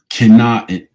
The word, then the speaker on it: Canaan: It is pronounced Canaan.